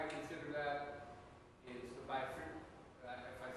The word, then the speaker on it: bifenthrin: And the reason why I consider that is the bifenthrin. If I say it wrong, please correct me. Yeah. Bifenthrin?